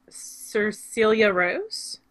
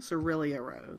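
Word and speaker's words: Cirilia Rose: This is a pattern by Cecilia Rose. Is that how you say her name? Cerelia Rose. Cerelia Rose.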